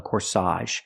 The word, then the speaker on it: corsage: dress is called a corsage put the stress on the second syllable corsage again the AG makes the a sound here corsage she's wearing a